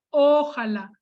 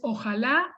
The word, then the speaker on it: ojalá: la palabra ojalá porque hay quienes la pronuncian mal dándole tonicidad al lado y pronuncian ojala que es una pronunciación equivocada es ojalá y lleva tilde la lo mismo pasa